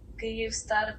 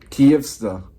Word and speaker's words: Kyivstar: So that is pronounced as Київстар, тривога, біль, Київстар. безсонні ночі, очікування. Київстар. Kyivstar. So is that the way how you pronounce it?